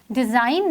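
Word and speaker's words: design: next शब्द इसे डिजाइन डिजाइन में अगर हम जी को निकाल भी दें तो भी वो डिजाइन ही बोला जाएगा क्योंकि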